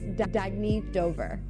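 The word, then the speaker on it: Dagne Dover: good you can live life intentionally oh it's pronounced Dagny Dover Dagny means new dawn it's a new dawn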